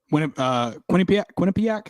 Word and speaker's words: Quinnipiac: they're the best they're the best celebrations Quinnipiac is how you say it beating who they